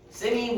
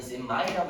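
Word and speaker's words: semi: 세미 혹은 어떤 날아에서는 샘마이라고 읽긴 하는데 보통 세미로 있습니다.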